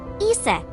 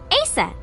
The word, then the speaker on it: Aset: Horus's mom is named Isis, but in ancient Egyptian, it's pronounced closer to Iset or Aset.